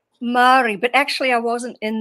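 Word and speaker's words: Māori: How are you uh how did you go from being in the is it Mayori? Am I saying it right? Mari but actually I wasn't in the indigenous tribe.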